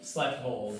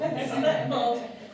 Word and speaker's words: Sleddervold: Sleddervold. Sleddervold, I add the E, I have to make it like a German. It's a tough one. Sleddervold.